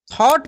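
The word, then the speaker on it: thought: थॉट पढ़ेंगे। आपको एक रूल पता होगा कि अगर किसी भी वर्ड में जी एच एक साथ लगा रहता है तो जी एच साइलेंट रहता है। जी एच का उच्चारण नहीं होता है।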